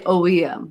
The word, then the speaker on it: OEM: this um oem oh you just say oem oh yeah you don't like try and pronounce it as one notebook and you say the letters so that was an